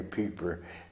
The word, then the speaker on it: Pieper: Pieper, we pronounce it Piper instead of the German way Pieper, because there was a war criminal named Pieper in the Belgian Bulge.